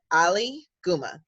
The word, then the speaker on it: Aliguma: will be saved and the way you pronounce it just thank muhammad ali ali guma very simple very phonetic i am the descendant